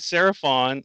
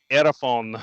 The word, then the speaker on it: Seraphon: but then we said seraph on or i heard you guys say seraphon no the s is silent could you do oh it's erephone yeah it's aerophone yeah can